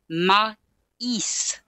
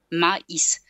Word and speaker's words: maïs: as a E, but they have to be pronounced separately as a A and a I, maïs.